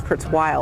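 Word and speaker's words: Kurzweil: name because I think a lot of people say Kurtz well it's Kurtz while I believe um I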